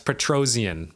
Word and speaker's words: Petrosyan: It's Petrosyan, by the way. Petrosyan. All right, so I have also not pronounced a single fighter's name right this video, nor have I ever pronounced a single fighter's name.